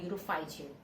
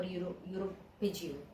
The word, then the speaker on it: uropygial: So this oil is called urophygeal or uropygial, whichever way you want to pronounce it, and they remove it and they apply it on their wings.